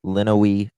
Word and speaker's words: Lenawee: I hate just not pronouncing the thing correctly. Okay, yeah, Lenawee County property belonging to Dale Warner.